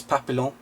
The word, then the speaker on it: Papillon: It's Papillon.